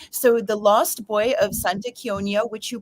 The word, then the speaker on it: Santa Chionia: sound good um so the Lost Boy of Santa konia which you pronounced correctly so thank you it's set in